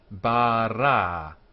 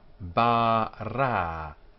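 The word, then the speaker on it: בָּרָא: Bara. There are two vowel sounds, both like the A sound. A. Bara.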